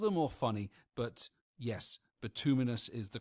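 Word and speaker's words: bituminous: I've always called it bitimus coal and subbitimus based on how I was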